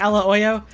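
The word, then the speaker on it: aglio e olio: it here's some like Italian Americans call it pasta Ella Oyo which is it's it's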